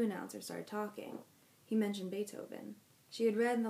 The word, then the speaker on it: Beethoven: started talking he mentioned beethoven she had read in the library about that musician his name was pronounced with an a and spelled with a double e he was a german